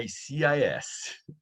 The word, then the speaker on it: ICIS: Vamos iniciar, então, trazendo para vocês a nossa parceira, a ICIS, que, na verdade, agora a pronúncia correta é ICIS.